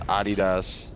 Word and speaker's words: adidas: No, it's pronounced Adidas. It's not It's a German company.